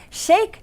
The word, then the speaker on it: Sheikh: Shake like milkshake.